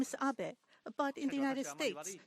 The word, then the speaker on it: Abe: over to the White House my name is Abbot a but in the United States some people mistakenly pronounce my name is ape but that is not bad the more because